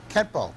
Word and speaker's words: Kenpo: When they got through changing the characters to the Okinawan calligraphy, it read Kenpo.